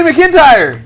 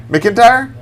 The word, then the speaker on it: McIntyre: don't care hey Joey McIntyre you remember where he's from right what's his last name McIntyre McIntyre yeah whatever good for you it's not Mac it's Mick mispronounced Mac is it